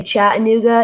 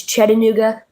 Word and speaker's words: Chattanooga: So, like most people say Chattanooga, it's Chattanooga, Tennessee. And some people say like Lafayette, it's Lefaya.